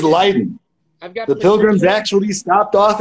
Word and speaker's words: Leiden: How do you pronounce it? Leiden? Leiden, that's correct. It is Leiden.